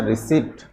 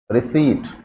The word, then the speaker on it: receipt: Generally विद्यार्थी जो हैं उसको क्या बोलते हैं? रिसिप्ट। क्या बोलते हैं इसको? रिसिप्ट। लेकिन ऐसा क्या होता है दोस्तों? ये गलत है, जबकि इसका प्रोनाउंसिएशन क्या होना चाहिए दोस्तों? रिसीट।